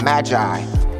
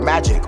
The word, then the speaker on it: magi: them instead of wise men it'll call them magi m-a-g-i it's really where we get our word magic or magician uh back in daniel time uh